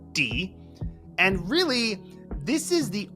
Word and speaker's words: 的: or suspicion and in in this case it's pronounced D and really this is the only word d